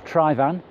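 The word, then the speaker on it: Tryfan: end of the lake you have trifa noir try van as its properly pronounced on the right and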